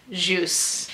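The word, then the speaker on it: Kjus: Now, this is one of their smaller pieces, but this is called Juice. And that is pronounced Juice.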